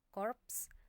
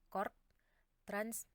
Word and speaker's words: korps: juga aspek Tetap bunyi contoh pelafalan yang benar adalah Kompleks korps transmigrasi bukan Kompleks chord Yes transmigrasi no Hai kesalahan-kesalahan umum